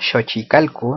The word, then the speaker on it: Xochicalco: a conocer a continuación, Sochicalco. Vemos con la escritura fonética shochicalco, eso sería su pronunciación en tecpilatoli.